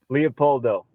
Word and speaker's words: Leopoldo: And I'm glad I heard you say it, because I was pronouncing it completely not Leopoldo. Say it for me. Leopoldo.